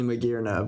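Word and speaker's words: Magearna: It's hard to suss out how to pronounce it unless you think, oh, it's because it has gears.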